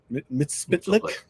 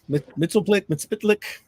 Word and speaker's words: Mxyzptlk: Mxyzptlk. And yeah, Mxyzptlk. I don't know how to pronounce his name.